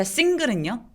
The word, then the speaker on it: single: 자, single은요. single. 여기 지금 보이는 single 할 때 L은 single 이렇게 발음하지 않죠?